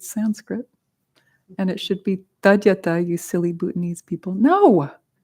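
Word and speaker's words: tadyatha: Teyata. Whenever there's a da after an A, it makes an A sound.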